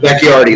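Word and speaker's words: Bakhtiari: Backatari. I don't know. You know what I'm talking about. Their offensive tackle, left tackle. What is it? Bacchiari, I believe. Bacchiardi, that's it.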